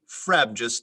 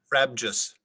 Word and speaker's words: frabjous: event of a simply frabjous day sorry um can you say the word again please frabjous are there any elephant pronunciations there are not frabjous frabjous yeah like frebjous okay frebjous f r a b d